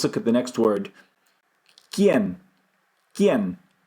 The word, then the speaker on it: quién: Quién. Quién. In English, qui. It's not the same word. I'm just comparing phonetically. Quién. Qui. Qui. We blow out.